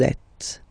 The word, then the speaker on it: êtes: Vous êtes. Same thing here. Notice that final S is not pronounced. Et.